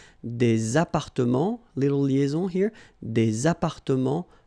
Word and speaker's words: appartements: Des appartements en copropriété. Remember, final S and final T are not pronounced here. Des appartements, little liaison here, des appartements en copropriété.